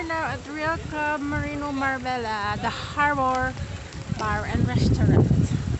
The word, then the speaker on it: Marbella: Marbella. Marbella. Marbella. Yes. It's spelled Marbella. Pronounced Marbella.